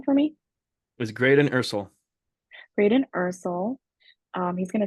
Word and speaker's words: Ursel: say your last name for me is grden ursul grden Ursel um he's gonna tell us a